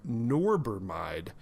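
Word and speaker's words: norbormide: New Zealand and he did a presentation on norber mide which is a new well actually probably an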